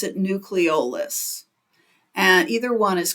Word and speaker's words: nucleolus: it's called the nucleolus I have heard it pronounced nucleis but I pronounce it nucleolus and either one is correct and the nucleis